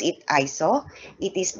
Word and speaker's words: ISO: So we pronounce it ISO. It is not an acronym. It comes from the Greek word isos, which means equal.